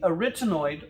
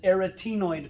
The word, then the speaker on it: arytenoid: cartilage here that is called the arytenoid or some people pronounce it aratinoid cartilage the arytenoid or erythemoid cartilage those cartilages can swivel